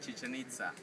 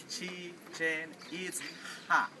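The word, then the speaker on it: Chichén Itzá: The pronunciation is not chichanita. Some people say chichia. Some people say chicken pizza. Right? The pronunciation is chi chen eats ha.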